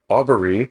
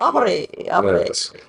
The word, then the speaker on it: Aubrey: The professor Aubbery. Now you're adding an additional syllable. Why not make it fancy now? I am Aubbery. Pink Aubrey.